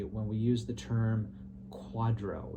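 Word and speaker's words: QDRO: need one uh yeah so a quadro uh is a q-d-r-o it is short for qualified domestic relations order um and i just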